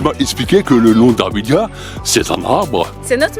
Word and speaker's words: Davidias: Davidia, c'est ça, hein? Ouais. Mais avec un S, mais le S on ne le prononce pas.